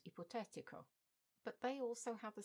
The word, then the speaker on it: ipotetico: For example, in that initial list we have energetico, energetic. It follows the same pattern, as does hypothetical and ipotetico, but they also have the same ending.